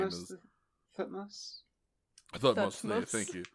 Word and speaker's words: Thutmose: Thutmose. Thutmose. Thank you. Titmouse.